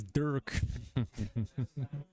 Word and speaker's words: Dirk: as hard like that it's not a hard r no no and I pronounce the I so it's not like dirt like it forgot there's no vowels in there it's just two r's and a k Urt mcgirt it's Dirk yeah a bit of